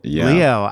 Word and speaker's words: Liot: like to say well you know how to pronounce ballet and then all of a sudden it makes sense Leo yeah there you